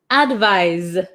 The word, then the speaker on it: advise: One more time, pronunciation. Advice, advise.